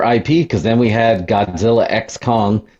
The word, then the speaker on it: Godzilla x Kong: That was a big month for IP because then we had Godzilla X Kong. The X is silent.